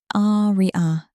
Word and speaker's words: Arya: Ah-ri-a. Three syllables, emphasis on the first, the same way he's said it since the day he introduced himself 3 months ago.